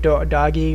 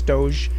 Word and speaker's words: Doge: that have been submitting assignments it's calling it doggy or doe it's it's Doge you can call it whatever you want I don't care but it's typically how it's pronounced Doge and then dogecoin's just a it's a meme